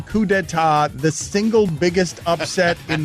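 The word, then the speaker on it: coup d'état: fired their bassist and drummer over a wedge coup d'etat what what a coup know what we can't believe is that you pronounce that correctly what is happening right now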